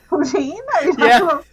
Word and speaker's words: poutine: Yeah, no, it's poutine. There's probably a better way of pronouncing it.